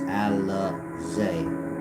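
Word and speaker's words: Al-Uzza: Of course, in those lands, they believe in Alat, Manat, and Alizé, spelled Aluzza. Aluzza, but it's pronounced Alizé. There's a line over the A, Alizé.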